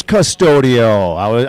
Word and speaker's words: Custodio: Custodio, and I'm from Lakeville. Ooh, it is Custodio. I did pronounce it right.